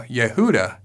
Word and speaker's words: Yehuda: the D in English notice how Yehuda clearly follows the Hebrew rules of pronunciation yay whoo duh da wah ooh is at the end of the syllable so it is a vowel and the word ends with a closed syllable however when we remove